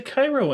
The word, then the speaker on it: Cairo: Or wait, no, there's a Cairo in Illinois. They don't pronounce it Cairo. No, it's Cairo.